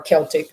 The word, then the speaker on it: Celtic: Uh you know what Celtic times were or Celtic is pronounced either way, but communal living.